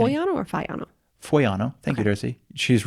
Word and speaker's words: Foiano: It is spelled F O I A N O. Foviano. If you're looking it up.